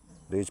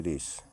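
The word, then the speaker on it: rays: बाद एस आया है वाई के बाद एस आया है तो इसको रेज पढ़ेंगे ना कि रेस ठीक है इसको रेज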